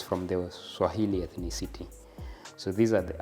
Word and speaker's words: Swahili: So for it, they used to pronounce it Swahel, not Swahili.